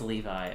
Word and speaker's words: Levi's: I'm listening to how to pronounce The Levi. name of this brand, Levi's. It is Levi.